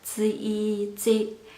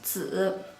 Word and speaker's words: 子: If final E makes sound, this word would sound like 子. It doesn't sound right. The correct sound is 子, no 子.